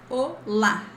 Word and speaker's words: olá: Not at this moment, but what I can let you know is that when you see this accent mark in a word, usually it's the stressed syllable. We have olá. This is louder.